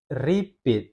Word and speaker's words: repeat: Repeat jadinya beda bunyinya ya. Yang benar adalah repeat. Repeat begitu ya. Dia lebih ditekankan pit-nya dibanding dengan R-nya.